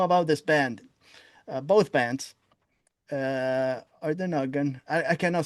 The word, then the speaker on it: Orden Ogan: Orden Ogan. Ardenhagen. Yeah, whatever. Whatever. It's easy to find. You don't have to spell it to Sure.